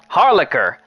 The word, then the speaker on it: Harlacher: It's not Harlicker, is it? I'm pretty sure I butchered that Harlacher. I was looking at it and I was thinking, no, just attempt. Just attempt. You're probably gonna get it wrong, just attempt. But yeah. Harlicker. Okay, I knew I said it right.